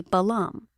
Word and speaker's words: balam: The word is actually balam.